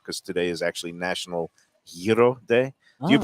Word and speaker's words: gyro: stickler, put gyro rhymes with hero.